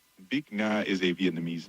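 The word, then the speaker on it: Bich Nga: Bikna is a Vietnamese name. B is pronounced a bit like B with a short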